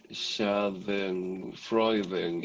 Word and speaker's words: Schadenfreude: How do you pronounce it? Schadenfreude.